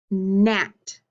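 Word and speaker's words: gnat: one are you ready listen to the beginning of these words nat na nom can you repeat them with me that's right you hear that sound at the beginning again so what two letters do you think and these words make that sound nat that's right the g and the n come together and make that m sound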